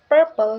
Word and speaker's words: purple: three is purple again the first syllable per is stress so it's purple not purple awesome and this adjective